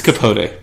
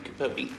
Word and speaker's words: Capote: I'm very bad at pronouncing things. It's Capote.